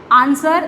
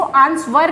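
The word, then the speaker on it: answer: Wrist, wrong, आंसर, देखिए इसको आंसवर नहीं पढ़ा जाता, W साइलेंट होता है, यानी कि चुप बैठा रहता है।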